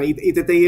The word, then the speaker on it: iTTi: No, no lo has lo has pronunciado perfectamente. ITTI. Bueno, ITTI es un foro de reflexión sobre precisamente el